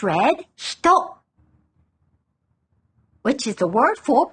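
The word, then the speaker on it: 人: By itself, it's read hito, which is the word for person. Hito. Hito. This kanji is also used in words like Nihonjin and Amerikajin. Attached directly after a country name, it's pronounced jin.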